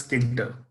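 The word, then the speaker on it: Tkinter: basically if you remember so this actually is pronounced as kinder so kinder is the library which we can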